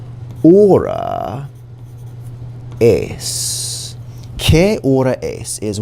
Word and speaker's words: hora: In hora, the H is silent. The H is always silent in Spanish.